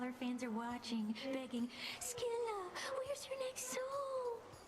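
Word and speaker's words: Scylla: There is no way. That's the canon pronunciation of that. I refuse to believe it. I maned Sila in Smite. I never once said Skila. I never heard anyone say Skila. They always said Sila.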